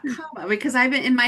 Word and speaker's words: Kabba: I was like, remember to say Kabba and not Kabba because I've been in my head, I've been saying People say both.